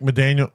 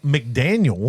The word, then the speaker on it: McDaniel: Mike McDaniel. Is that it? That's not how you say it. Mike McDaniel.